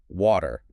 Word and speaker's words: water: It actually sounds much more like a D. Listen closely to how I say it. Water.